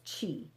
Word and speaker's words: qi: And that life force energy in traditional Chinese medicine, that energy is called qi. And qi is spelled Qi.